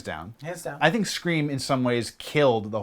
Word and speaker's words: Scream: Scram. Scream. Scream? Scream. It's not pronounced scram? It's never been pronounced Scream. Oh, I thought it was pronounced scram.